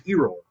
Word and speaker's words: Eroll: And in my mind, his name is Eroll. You know, in where he comes from that that name is actually quite common where he comes from. It's pronounced E-roll.